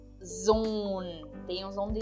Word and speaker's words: Sohn: Então eu não digo son, mas sim zon.